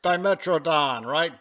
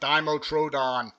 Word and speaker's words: Dimetrodon: Hey, here's one of my favorites, Dimetrodon, right? Dimotrodon, the British say. Well, funny people, the British.